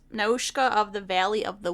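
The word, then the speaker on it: Nausicaä: And I might pronounce it different than you, but I just took the pronunciation from the movie because I watched it in Japanese. That's fair. So it's Nausicaa of the Valley of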